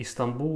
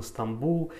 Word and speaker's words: Стамбул: То же самое Истанбул у нас, это, естественно, Стамбул, и Тайпей у нас это Тайбэй.